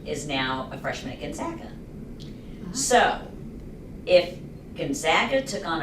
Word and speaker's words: Gonzaga: Gonzaga would lose.